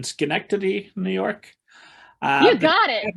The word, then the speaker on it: Schenectady: Well, I had read that when you were young and you're living outside of I'm gonna mutilate this with my Indiana pronunciation, Schenectady, New York.